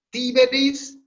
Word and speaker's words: Tiberis: Tiberis, la E es breve porque es en sílaba abierta y no tiene el macrón, o sea que no es larga. Entonces el acento va para la I.